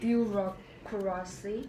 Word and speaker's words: bureaucracy: How do you pronounce Bureaucracy. Bureaucracy. Mm-hmm. Do you pronounce R? Bureaucracy. Bureaucracy. No, that R isn't really pronounced. Bureaucracy. Well, maybe it is. Bureaucracy. Yeah, you would say the R.